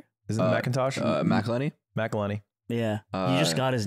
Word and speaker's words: McElhenney: Mac is Rob McIntyre. Because he owns the team. Wrexham, that's that McIntyre? Guy. Isn't it McIntosh? McElhenney? McElhenney.